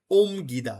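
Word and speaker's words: 옮기다: তারপর আছে কি দেখেন 2 নম্বরটা নিচে মিয়ম মানে ওম গিদা। দেখেন ও ইয়ং ওতে ও আছে, নিচে আছে রিয়ল আর মিয়ম, রিয়ল উচ্চারণ নাই, তার কি দাঁড়াচ্ছে ওম গিদা।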